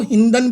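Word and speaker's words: Hindon: और ये जिस नदी के किनारे बसा था दैट इज कॉल्ड हिंडौन, कई जगह इसको हिंदन भी लिखा होता है, राइट प्रोनाउंसिएशन इज हिंदौन, क्लियर।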